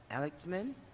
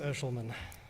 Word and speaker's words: Eshelman: Next up to speak will be Chris Alexman. Chris, if I don't pronounce your last name correctly, please enlighten me how to pronounce that properly. You did great. It's Chris Eshelman. Eshelman.